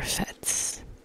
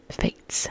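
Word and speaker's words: fête: the art of enjoying summer fats Fates sorry Fates I do know how to pronounce that summer Fates which is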